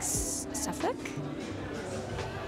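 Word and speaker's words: Southwark: the hawkon in it's it's pronounced I think suffk it's spelled like southw workk but I think it's pronounced suff I don't know London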